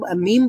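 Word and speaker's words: م: তো বাটা হলো ঠোঁট খোলার সাথে সাথে সাউন্ড বের হয়, আর মিম হচ্ছে ঠোঁট খোলার আগে থেকেই সাউন্ড প্রডিউস হয়।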